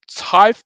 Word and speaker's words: Typh: Typh. Oh, I nailed it the first time. Like life, but Typh.